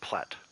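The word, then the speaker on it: plait: it's actually pronounced and apparently people in england say platt like i say it so now the joke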